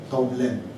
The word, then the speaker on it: Tonglen: T-O-N-G, but don't pronounce it as Tong. It is Tong. Tong. Okay, yeah. Tong. And then Len. L-E-N. Tonglen.